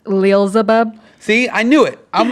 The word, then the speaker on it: Leelzebub: It's pronounced Leelzebub. See, I knew it. I'm the champ. I said it's Leelzebub.